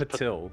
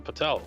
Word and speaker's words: Patil: How would you No, pronounce his name is Patil. He's even gone so far as correcting Chin. No, he tunes into every stream. And every stream I call him Patel.